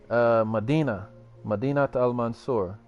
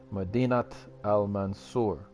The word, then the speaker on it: Madinat al-Mansur: Madinat al-Mansur. To link the two words, you need to pronounce the T.